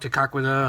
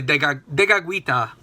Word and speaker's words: Tekakwitha: Saint Kateri Tekakwitha um as it said in Mohawk Tekakwitha I don't I don't know how people say it in English. I actually know the Mohawk pronunciation better than the English uh but it's really Tekakwitha.